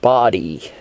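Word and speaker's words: Bodie: continue continuing north there's bodhi island b-o-d-i-e which is pronounced body there's another lighthouse there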